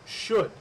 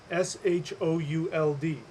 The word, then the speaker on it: should: we have in English, but we pronounce it should. S-H-O-U-L-D, should. But that O-U-L-D is there because in Old English it was pronounced skjold.